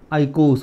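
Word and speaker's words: eicos: से स्टार्ट करते हैं, आइकोस बोलेंगे। कई बुक्स में ई भी लिखा होता है, ई आई, आइकोस ऐसे स्पेलिंग रहती है, लेकिन आइकोस भी चलता है, ई साइलेंट है, कुछ प्रॉब्लम नहीं आता है, आइकोस।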